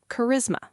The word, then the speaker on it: charisma: So, my first feeling says sh. But I'm suspicious. Wait. Maybe Greek looking. I'll guess K. Charisma. Excellent. K is right.